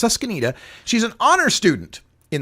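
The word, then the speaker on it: Susquenita: girl uh in Pennsylvania susanita I believe is the way her school is pronounced susanita she's an honor student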